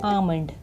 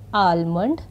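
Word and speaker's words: almond: इसको बोलने का तरीका है आमंड, बट हम इसको गलत प्रोनाउंस करते हैं आलमंड या आमंड। ये इसके गलत बोलने का तरीका है। Right is आमंड।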